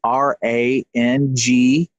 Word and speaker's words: Rangikus: And it's Rangikus, which is Rangeekos.